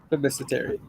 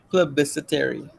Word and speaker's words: plebiscitary: Independent judiciary metaphor, and the democratic, and this one I get real problems pronouncing. Autocratic, the anybody want to help? Plebiscitary. Say it again. Plebiscitary. Plebiscitary.